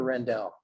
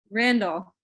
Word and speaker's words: Randall: And I want to say that what Amy Randall, Amy, do you pronounce it Randall or Rendell? Randall. Randall.